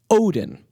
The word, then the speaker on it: Odin: At the point in history when Wednesday emerged in Middle English, the Scandinavian theonym for the English Woden was being pronounced Odin.